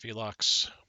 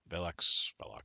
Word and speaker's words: Velox: t has learned yes they lost the Destroyer Velux velox sorry you pronounce it um you know what while we're